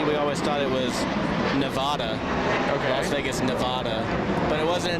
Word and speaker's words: Nevada: That's an example of the locals pronouncing it correctly.